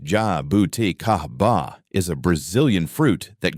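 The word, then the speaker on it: jabuticaba: Jabuda Cababa, pronounced ja bouti kahaba, is a Brazilian fruit that grows directly on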